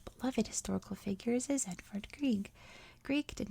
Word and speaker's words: Grieg: 120 million us dollars edvard greek which i believe is how you say his name apologies if i got that wrong norway's most famous composer